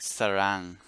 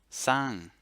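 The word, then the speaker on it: สร้าง: You might think sarang or sarang, but it's not pronounced that way. It's pronounced sang, sang.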